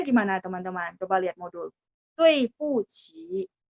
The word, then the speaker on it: 对不起: Dui bu qi. Ya. Tulisnya kan D, U, I. Benar nggak? Nah, tadi waktu saya bilang, saya baca D dibaca T. UI bacanya ada E di tengah-tengah. Jadi tui. 对不起, 对 ada 4.